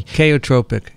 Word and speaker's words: chaotropic: antibodies bind um yeah the they use this kaiotropic illusion am i pronouncing that right probably not i never pronounced things correctly chaotropic chaotropic is that how you do it yeah